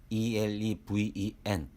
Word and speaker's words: eleven: 숫자는 수 뿐이 없습니다 11원 알파벳 eleven 으로 인레 번으로 읽을 수 있습니다 단어 읽기 에서도 짧게 언급한 단어입니다 한 단어 안에 3개의 같은 알파벳 e 가 모두 다른 발음으로 새겨 졌습니다 환장할 노릇입니다 그리고 12도 알파벳 twelve o2